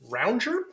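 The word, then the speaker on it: rongeur: There is this thing here called a rounger. I might be pronouncing that wrong. It's French. It comes from the French word for gnawer, like gnawing or rodent.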